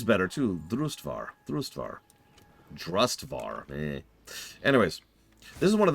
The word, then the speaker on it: Drustvar: to H white Christ also I know it's pronounced drustvar I don't know why I have so much